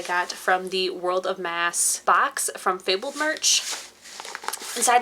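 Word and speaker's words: Maas: i recently learned that it is pronounced mass and not moss so i'm probably going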